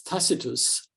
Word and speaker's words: Tacitus: this this Legend um takus uh widely pronounced as tacitus um but I believe um it was takus during the Roman period um takus says in